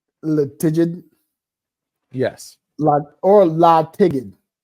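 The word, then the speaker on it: La'Tigid: d La yes or La tiged yeah make it a hard G La Ed Damon laig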